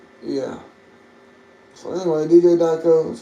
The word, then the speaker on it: Djdiako: So anyway, Djdiako, that's how you pronounce it.